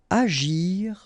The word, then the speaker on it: agir: Agir en. Okay, remember when we've got G and after that we've got I, it's really like J. Agir.